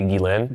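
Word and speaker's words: Ghislaine: Jane. Jane. How do I How do you pronounce? It's technically gain.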